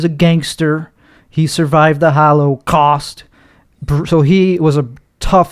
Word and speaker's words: Holocaust: lot to kill me is that how you pronounced it Hollow cost I like to over enunciate when I'm on camera yeah and no is it are you supposed to say cost because Holocaust because there's an emphasis on costs I just